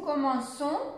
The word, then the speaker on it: commençons: ça serait comme ça mais pour que l'on puisse faut qu'on puisse prononcer bien le son il faut ajouter la saisie nous commençons les vacances nous commençons